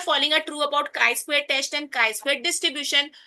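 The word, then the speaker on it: χ²: मैंने आपको बताई थी इसकी प्रोनन्सिएशन 3² नहीं है इसको बोलते काई स्क्वायर ओके तो लेट्स रीड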